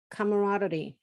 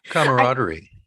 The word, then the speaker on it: camaraderie: willing to work together, and there's a good camaraderie. How do you say that word? Camaraderie.